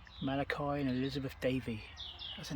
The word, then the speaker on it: Malachi: So here we have Richard, youngest son of, is that, how do you pronounce that? Malachi. Malachi and Elizabeth Davy.